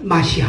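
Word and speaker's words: מָשִׁיחַ: 근데 예수를 믿는 사람들은 그 사람 메시아 히브리 말로 메시아를 갖다가 비슷하게 우리가 히브리 사람들처럼 정확하게 발음할 수 없죠. 비슷하게 말하다가 마시아입니다. 마시아.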